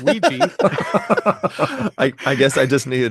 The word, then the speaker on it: WEGGI: I'm gonna attempt to pronounce this game. Is it WEGGI? Nope. Ouija.